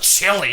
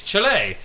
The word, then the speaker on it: Chile: but that's how chile is pronounced it's not pronounced chili it's chile that's not how you said it so try